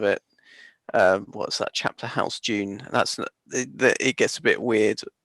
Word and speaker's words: Dune: So when's Dune meant to be out? Oh, I don't know. Like June 2021. Sorry. Yeah, it's pronounced June, Russ. Like June Whitfield.